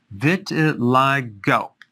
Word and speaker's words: vitiligo: i want to talk about vitiligo vitiligo that's how it's pronounced what is it it's a deep pigmentation